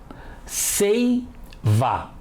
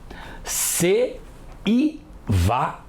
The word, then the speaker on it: seiva: juntas na mesma sílaba dá para falar se e vá ceiva Ei são pronunciadas juntas certo se Piva e são pronunciadas separadas errado Se ppwa ninguém fala assim não é tá errado